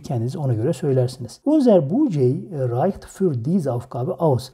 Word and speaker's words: Budget: Bakın budget yazılıyor ama budget şeklinde okunuyor. Sakın aynı budget şeklinde telaffuz etmeyin. Budget şeklinde telaffuz etmeniz gerekiyor.